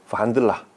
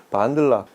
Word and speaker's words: Wandla: 페럼 오디오 오늘 볼 두 제품 DAC 반들라, 이 동구권 발음이라서 반들라, 그리고 전용 파워 서플라이 힙소스.